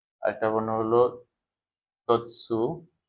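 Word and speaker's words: つ: 4টি বর্ণের মধ্যে একটা বর্ণ হচ্ছে শি, তারপরে এখানে একটা বর্ণ আছে, এটা হলো চি, আরেকটা বর্ণ হলো তৎসু, বা অ্যাকচুয়ালি উচ্চারণটা হবে ইৎসু।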